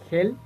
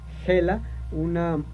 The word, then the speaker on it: Hel: llamado Helheim, o Helheim, como lo quieran ustedes pronunciar. Helheim, o también llamado Hel, H-E-L, es conocido como el reino de la